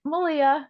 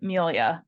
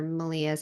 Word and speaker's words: Melia: And I'm like, Malia. And they're like, oh, okay, Malia. And I'm like, yeah, yeah, that's it. Yeah. Right? Think of like Melissa, only without the S's.